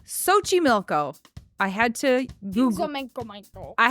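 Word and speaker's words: Xochimilco: SOI milco Mexico do you want know how that's spelled x o c h i m i l c o Sochi milco I had to Google I had to Google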